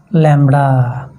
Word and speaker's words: lambda: Poison ডিস্ট্রিবিউশনের মানে কি, poison distribution মানে হচ্ছে যে ল্যামডা, মানেই ল্যামডার মান নির্ণয় করা, মানেই জাস্ট ল্যামডা লিখলে হয়ে যাবে। ল্যামডার উচ্চারণ কীভাবে, অনেকই দুভাষায় থাকে, আমি উচ্চারণটা শিখে দিচ্ছি।